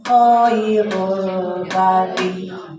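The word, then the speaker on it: خير البرية: Ini teh harusnya tafkhim ya. O-nya di fathah atau di dhamma itu di tafkhim.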